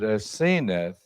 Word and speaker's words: Asenath: And I want you to notice now, I'll just do this very quickly, but Asenath is her name, or some pronounce it Asenath.